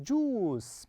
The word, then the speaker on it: juice: Of juice. Perfect. So we have you and I. We pronounce as oo, juice. Juice. Okay, so we have U-I, oo, I-E, I, and U-I is oo.